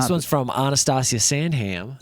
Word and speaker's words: Sandham: But not this one's from Anastasia Sandham. Sand Ham as we pronounce it. Probably other people pronounce it sandum, but we're going to say sandam. Sandham. We make sure to pronounce all the h's.